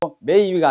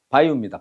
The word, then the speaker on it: ばいう: 자, 일본 발음은 매우를 어떻게 한다고? 매위가 아니고 어떻게 해봐. 바유. 바유. 바유입니다.